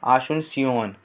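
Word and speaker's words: Asunción: ऐसे इसका प्रोनाउंसिएशन होता है आशुनियो, आशुन सियोन। क्या प्रोनाउंसिएशन होता है, आशुन सियोन, आशुन सियोन, ठीक है।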